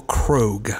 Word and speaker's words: Krogh: It's Michael Krogh. Krogh, a graduate of Calvin University, nay, Calvin College in 2006, BA in Latin education.